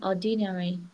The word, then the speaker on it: ordinary: I think it's gonna be ordinary. Yes, we stress on the first one.